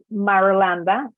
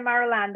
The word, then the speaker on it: Marulanda: So going back to my last name is Marulanda. So my Good, full you name pronounced it because I would butcher it. So I'm glad you took care of it. So yeah, I'm Marulanda.